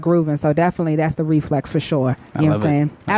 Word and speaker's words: RifleX: So listen, guys, make sure you follow Reflex at I Am Reflex. So it's spelled I Am RIFLEX.